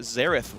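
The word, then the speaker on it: Xerath: the pre Nerf air the right way to say it zerth will mid lane for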